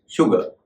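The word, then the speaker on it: sugar: जैसे एक बहुत ही कॉमन शब्द है एस यू जी ए आर इसका मतलब आप जानते होंगे चीनी उसका सही उच्चारण है शुगर ना कि शुगर इसी तरह एस यू आर इका उच्चारण भी शो या शुगर होता है।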